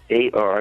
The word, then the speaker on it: Hadar: Website is HADAR. It's pronounced Hadar. It's two A's in the name.